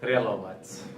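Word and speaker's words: Prelovac: Yeah, how do you actually pronounce your surname? Relovats.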